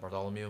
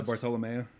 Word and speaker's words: Bartolomeo: Like I didn't know anything about Bartholomew, and like why he was so obsessed with Zoro. Oh, Bartolomeo. Is that how it's pronounced? Yeah, Bartolomeo.